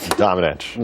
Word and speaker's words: Domenech: Domenech.